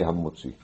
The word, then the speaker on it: Hamotzi: Hamotzi Lechem Min Haaretz, de bien prononcer la lettre Hei de Hamotzi. Parce que des fois ça risque d'être avalé comme ça, Motzi Lechem Min Haaretz. On ne sent pas le Hei. Il faut dire Hamotzi.